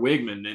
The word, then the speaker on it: Weigman: Connor weigman or Connor Rebecca's been saying his name wrong it's kind of wigman and sorry sorry to